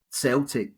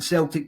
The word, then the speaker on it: Celtic: This quote is interesting because choosing the name Celtic, really, we should say, rather than Celtic, but over the mist of time, it just became a soft C rather than the hard C.